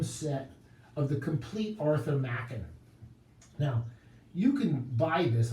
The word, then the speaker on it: Machen: It's not Arthur Machen, as I mispronounced it in the past. It's Arthur Machen.